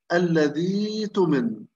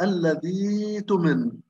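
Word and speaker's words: الذي اؤتمن: فكيف تنطق؟ الذي تمن، الذي تمن. لاحظوا هذه الياء محذوفة وهمزة الوصل أيضا محذوفة، إذن الحرفين باللون الأزرق كأنهم مش موجودات. فأبدلنا الهمزة إلى ياء فأصبحت الذي تمن.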